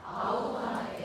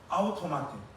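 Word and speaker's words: αὐτομάτη: 여기 지금 스스로에 해당하는 헬라어 단어가 아웃토마테 하는 단어입니다. 우리 권사님 집사님들 아시는 헬라어는 아가페밖에 없잖아요. 스스로에 해당하는 헬라어가 아웃토마. 여러분들 이거는 중요하니까 일단 발음을 한번 해 보겠습니다. 시작. 아웃토마테.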